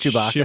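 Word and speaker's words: Tshibaka: So in the 49 Republicans in the Senate, there's not an E in that, and it's pronounced Chewbacca.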